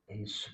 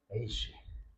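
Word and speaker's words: אֵשׁ: 뭘까 히브리 단어로가 아니에요 씨 이러면 안 돼요 쉬 쉬 에쉬 그래도 약간 비슷하게 들리죠 이게 S 발음이 영어에서는 그 히브리서는 S 발음이 있고 쉬 발음 있 이거는예요 에쉬 이거 좀 세게 하면 에쉬 이렇게 되겠죠네 원사님 계속 웃으시네 아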